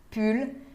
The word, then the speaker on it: pull: Tem também pull. Pull, blusa de frio. Pull. Sim se pronuncia o L final.